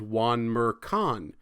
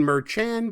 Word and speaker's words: Merchan: So as I was editing this video, I realized that I mispronounced the judge's name. His name is Juan Merchan. I kept saying Merchan because it was 1 a.m.